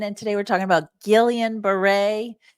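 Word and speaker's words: Guillain-Barré: today we're talking about Gillian Beret which is spelled differently than how it's pronounced for some reason this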